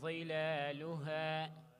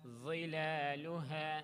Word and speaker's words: ظلالها: ودانية عليهم ظلالها. ظلالها. Make it heavier. What's going to happen is your cheeks are going to swell out.